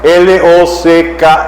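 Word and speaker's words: Locke: L O C k E. Lo que como lo cerradura con e. Lock.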